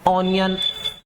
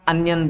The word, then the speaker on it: onion: बोलेंगे इसको ऑनियन, और ऑनियन बोला तो ये गलत हो गया ऑनियन, क्योंकि हमने जो सीखा है लेटर सीखे हैं उसी को प्रोनाउंसिएशन में ले रहे हैं, तो ये आपका क्या हो गया, गलत हो गया। प्रोनाउंसिएशन जो शुद्ध बनेगा वो इसका अनियन बनेगा।